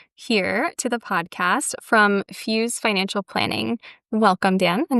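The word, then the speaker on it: Fyoz: So, we own Fuse Financial Planning. Uh, Fuse is spelled the phonetic way. So, F Y O Z for all you listeners.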